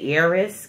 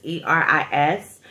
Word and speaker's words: Eris: I want to say Eris because it's E-R-I-S, but it's pronounced Eris.